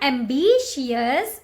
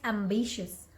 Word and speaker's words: ambitious: that easy right so see it is not MB shears it's ambitious ambitious okay can you see